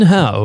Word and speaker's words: Howe: One time I was talking to a customer service person, and she said Howie a few times, and then I said, it's actually Howe, and she goes, well, different people pronounce it different ways.